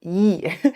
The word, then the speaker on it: y: Y replaces, or yi, I'm saying Y because that's how it's spelled, but it's pronounced yi.